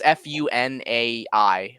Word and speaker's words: Funai: No, I don't know how to pronounce it. It's Funai, but they were still producing VHSs up to